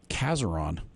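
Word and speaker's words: Casoron: bunch that we'll get in there um the ceron will kill everything that's in the raspberries except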